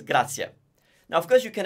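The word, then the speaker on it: grazie: follow what you're saying there is no point going around saying grazi if what you're supposed to say is Gracia now of course you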